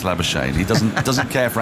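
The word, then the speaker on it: Labuschagne: la shane and it it is pronounced lava shane if you are lava shane he's decided that it's lava shane he doesn't doesn't care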